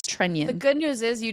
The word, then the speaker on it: Trenin: So I'm going to just say it's Trenion. It is not Trenin. It is Trenion.